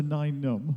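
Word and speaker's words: Nien Nunb: Mike, let's bring it round to 9 Num, as we established yesterday was the correct pronunciation. 9 Num, like number 9.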